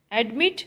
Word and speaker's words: admit: Admit, stress is on second syllable, mit, so it become the last consonant become double, so the word is admitted.